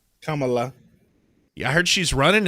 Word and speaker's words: Kamala: Kamala. Sorry. Let me say it right. Kamala. Kamala.